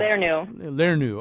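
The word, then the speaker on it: lernu: Learnu.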